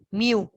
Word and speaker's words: mu: it's a population and ito mu number pronouns but it is spelled out like this m you pronounce this